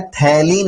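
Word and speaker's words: phthalein: चलिए आगे बढ़ेंगे, और नेक्स्ट स्टडी में बेटा नोट करना है थैलीन अभिक्रिया यानी थैलीन रिएक्शन। स्पेलिंग का थोड़ा ध्यान रखिएगा, इंग्लिश में इसको पथैलीन लिखा जाता है, PS साइलेंट रहता है, लेकिन थैलीन हिंदी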